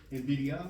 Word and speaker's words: NVIDIA: NVIDIA or N? NVIDIA. All right. And Palantir. Spell it.